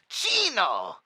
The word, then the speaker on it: Chino: here pull the trigger it's pronounced Chino Chino it's not hard c h e e e e n o Chino it's Chino I understand that you hold